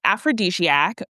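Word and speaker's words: Afrodiskayak: So, it is aphrodisiac, but it's spelled Afroiskayak. So, A F R O D I S K A Y A K.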